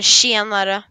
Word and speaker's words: tjenare: Or tjenare. Shiamara? Shiamara. Yeah, that sounded like real Swedish. Gotta get that roll R in there.